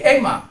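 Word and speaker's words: αἷμα: masih agak bisa tapi kalau sudah A dan I menjadi E itu menjadi satu contoh. Aima menjadi Ema.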